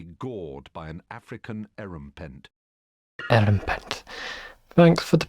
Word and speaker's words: Erumpent: Erumpent. Thanks for the pronunciation, Stephen.